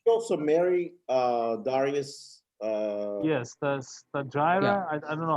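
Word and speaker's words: Stateira: Yes, the Stagira. I don't know how you pronounce it. Statera.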